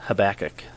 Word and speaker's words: Habakkuk: said it amos so it's amos and then habakkuk that that's the correct pronunciation yep okay that's how i would have